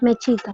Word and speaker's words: mexica: Mexica. Con X. Ellos pronuncian la X como che veces. Depende del contexto, pero eso no importa.